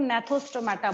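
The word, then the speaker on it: Gnathostomata: Second वाले में भी जी साइलेंट है और फर्स्ट वाले में भी जी साइलेंट है।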